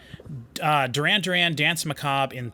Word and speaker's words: Macabre: Macabre? Yeah, it's a silent R.